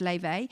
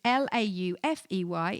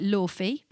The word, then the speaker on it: Laufey: If you aren't listening to Laufey, her name is pronounced Laufey. It is Laufey. It looks like Laufey, but her name is Laufey.